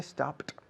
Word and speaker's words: stopped: Que por cierto no es una T, es una D escrito. Pero se pronuncia como una T.